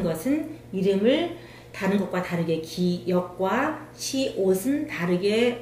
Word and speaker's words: 기역: 기역, 기역, 니은, 니은, 다음에 디귿, 디귿, 리을, 리을, 미음, 미음, 비읍, 비읍, 시옷, 시옷, 이응, 이응, 지읒, 지읒, 시읒, 시읒.